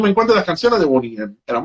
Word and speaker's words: Boney M: no mija Boney M. Boney as in bone M.